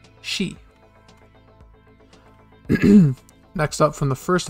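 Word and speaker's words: し: Next up, from the sa column, we have the first exception, which looks like a little hook, and it's pronounced she.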